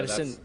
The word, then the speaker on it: Paddison: So Rossco Paddison. Yeah, Paddison. That's good enough pronunciation.